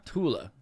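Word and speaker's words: Thule: barf is like yeah a lot of these things are actually th is not pronounced yeah tula yeah usually or wait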